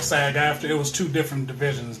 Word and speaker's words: SAG-AFTRA: So it's like SAG-AFTRA.